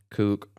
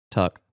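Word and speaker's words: Tuch: How you say his name? Who? The dude, the guy. Alex Tuck. Tuck. Thank you. Kook. I saw CH in my head and I was pretty sure he's American. Yeah, Tuck.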